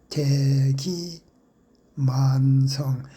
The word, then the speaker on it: 대기만성: 이것도 대기 만성 대하고 만자는 길게 대기만 대기 만성이라고 읽어야겠습니다. 그러나 대하고 만자를 짧게 대기 만성, 대기 만성이라고 읽어서는 안 됩니다.